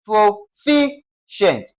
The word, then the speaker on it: proficient: That is its stress will be on what now? Fi. Okay? Which means fi will be stressed. That is pro ficient. Why? Fi is the second to the last what now? Syllable.